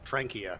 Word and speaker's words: Francia: And fun fact, the Frankish tribe is actually where France gets its name because back in the day it wasn't Francia, it was actually pronounced Frankia.